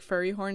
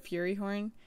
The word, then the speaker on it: Fury Horn: So I've been saying like Furry Horn instead of Fury Horn because freaking Rat has said it first and then I got messed up.